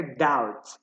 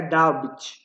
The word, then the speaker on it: doubt: A gente não pronuncia esse B. Então fica doubt. I doubt about you. Não fica doubt, ok?